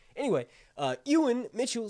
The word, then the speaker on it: Ewan: me on Saint albanson I was always saying ewon which is really funny like Ewok right that's how it's spelled in American English anyway uh Ewan Mitchell said in uh